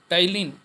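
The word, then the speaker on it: ptyalin: और कुछ एंजाइम पाए जाते हैं, जैसे कि सलाइवरी अमाइलेज, इसका दूसरा नाम देख लो टाइलिन, सॉरी पी साइलेंट है यहाँ पर।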